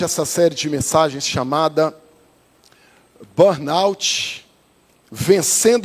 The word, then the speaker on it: burnout: Algumas pessoas pronunciando de uma forma diferente, né? Eu já ouvi pessoas e já até recebi pessoas falando que já tiveram ou tem burnou. Já ouviu? Burnou.